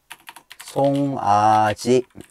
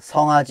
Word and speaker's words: 송아지: 송아지. Okay. 송아지. 송아지. Okay, 리카, try again. 리카, 성아지, no. 송아지, 리카, try again.